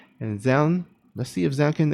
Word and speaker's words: Zoun: Yeah, I think most people call him Zoun, but someone, I think, tweeted or told Artosis that the correct pronunciation was Jown, or something like that.